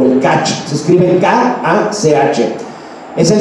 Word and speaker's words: Kach: fundador de un partido que se llama el Kaj o el Kach. Se escribe K-A-C-H.